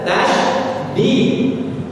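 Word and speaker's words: تشديد: Tasjid itu artinya sujud. Yang benar tasydid.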